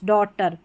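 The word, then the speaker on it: daughter: इसको अ करके पढ़ेंगे तो ए यू जी एच डॉटर ए यू जी एच में डॉटर पढ़ा है क्योंकि जी एच जो है ये साइलेंट है। ठीक है? जी एच साइलेंट है।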